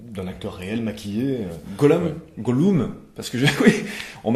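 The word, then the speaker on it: Gollum: beaucoup de gens disent pourquoi tu dis pas Golou Golum c'est la juste la la prononciation à l'anglaise comme j'ai vu les films surtout en en VO je je le prononce donc à l'anglaise moi je je dois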